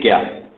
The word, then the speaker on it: ज्ञान: ज्ञान योग अगर हम इंग्लिश भाषा में, अंग्रेजी भाषा में लिखते हैं तो JNANA प्रोनाउंसिएशन में आता है। उसे JNA से ज्ञान, और हिंदी में तो